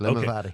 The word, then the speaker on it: LimaVady: but it's an Irish whiskey, and it's called LimaVady. Did I get it? Did I pronounce it right? Perfect, LimaVady.